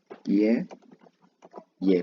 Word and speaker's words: ye: Ye, pronounced bit by bit. It's ye. Combine the whole pronunciation becomes ye.